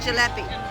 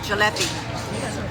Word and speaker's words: jalebi: Jalebi.